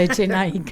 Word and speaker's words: Echenike: Claro, le pone una K en lugar de la Q, para que la pronunciación pueda ser esa, Echenike.